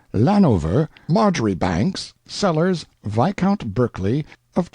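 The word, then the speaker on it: Marjoribanks: and style being the honorable Kirk Cudbright, Lanover Marjgery Banks, Sellers, Vic Count Berkeley of Chalundy Castle, Warwickshshire. Pronounced Cubri Flanover Marshbanks sellers Viccount Barkley of Chumley Castle, Warkshire.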